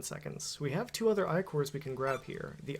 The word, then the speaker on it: Ichor: fill it with magical eye core that's pronounced i core choose your eye core